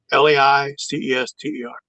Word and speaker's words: Leicester: And L E I C E S T E R.